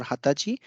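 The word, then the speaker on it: 二十歳: be mentioned here because although the kanji is the same the pronunciation or the expression or the words are different it is also uses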